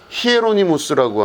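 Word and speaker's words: Hieronymus: 그게 바로 뭐냐면 제롬, 그러니까 제롬은 영어식 발음이고 이 사람의 원래 이름은 히에로니무스라고 하는 이름입니다.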